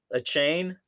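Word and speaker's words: Achane: So, third rounder picked up running back Devon Achain. Achain. Achain. Yep. That's right. Achain rhymes with a train.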